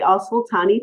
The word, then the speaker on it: Alsultany: mispronounce the other person's name, So Obeidi Yes, Alsultany test. that's Tell right. everybody about it and what it means. So the Obeidi Alsultany test is a test to help Hollywood improve representations of Muslims.